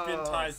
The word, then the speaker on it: Spintires: Spintires, but tire spelled like Spinny tire.